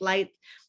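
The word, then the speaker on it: Leitz: you see this one think lights out it's pronounced lights and then carl earhard this is the producer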